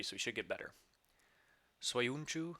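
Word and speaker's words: Söyüncü: he should get better soyunchu i believe is how you say that uh he he has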